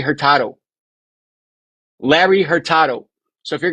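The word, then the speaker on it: Hurtado: She said Larry Herertad. Did you miss the O at the end? It's Larry Herertado.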